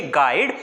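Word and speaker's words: guide: पर छुपता है सिर्फ अगर हम लिखेंगे तो गाइड को गाइड भी लिखेंगे और इसमें यू आय का लेकिन जब हम इसे खोलेंगे गाइड तो हम इसमें क्या कर देंगे यू को साइलेंट कर देंगे यह क्या हो जाएगा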